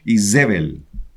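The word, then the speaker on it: איזבל: en el argot Cristiano Jezabel en hebreos isbel isbel en hebreo isbel isbel Cómo dice ahí aquí dice isbel ahí isbel sino que es se pronuncia así isbel en hebreo Sí así se pronuncia en el idioma hebreo entonces que es Jezabel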